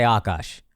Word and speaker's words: Akaash: They'll say akash or akash. I say akash.